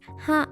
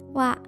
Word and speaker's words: は: Please note that even though it's reading as ha, it's pronounced as wa.